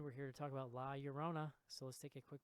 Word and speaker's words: La Llorona: to John it's something you're saying it wrong it's the curse of the curse of La Llorona okay thank you no